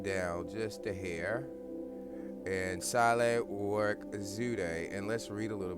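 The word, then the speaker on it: Sahle-Work Zewde: has a woman president, Saleh Work Zude. And you don't pronounce the African names quite like you may pronounce an American name. So let's pull it down just a hair. And Saleh Work Zude, and let's read a little bit about her.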